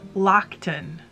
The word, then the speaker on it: Loaghtan: been pronouncing it wrong according to the fleece and fiber source book this says lockton like we're gonna call it locked in from now on